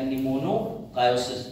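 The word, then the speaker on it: pneumoconiosis: सुंदर जिसका नाम है निमोनो सायोसिस या निमोनो कायोस लिख दे निमोनिया की स्पेलिंग शुरू प से होती है पर पड़ी ए से जाती है ऐसेन ये बीमारी इसी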